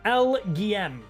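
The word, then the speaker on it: Elgyem: play any other decks it's pronounced lgm but it's a pun on Little Green Man ah I like that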